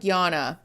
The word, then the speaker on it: Jana: And again, oh, it's pronounced like Yana.